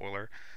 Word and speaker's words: Euler: with like 20 steps way better than like Euler a this is let's look at Euler but it's pronounced Euler that's like a French dude who like did